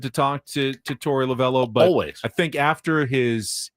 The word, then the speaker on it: Lovullo: And quickly, lavell lavo. They say lavell on the broadcast. It's spelled with a u, but I I always hear lavell, so it's probably somewhere in between.